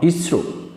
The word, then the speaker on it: ISRO: When we pronounce ISRO, it is pronounced as a collection form ISRO, not ISRO.